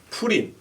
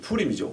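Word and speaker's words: Purim: 푸림, F 발음이 아니죠. 푸림이죠.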